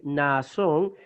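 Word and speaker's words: Ναασσών: Ok, Naasón. Tenemos la repetición del alfa. Naasón. 2 sílabas distintas.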